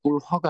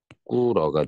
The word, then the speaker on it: 꿇어: 여기도 마찬가지야. 쓰는 건 이렇게 쓰지만 실제 발음은 히읗 발음하지 않습니다. 꿀허가 아니라 꿀어가 되죠.